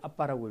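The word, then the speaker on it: אבא: 아람어도 이걸 아빠라고 읽고요. 우리도 아빠라고 읽어요. 예.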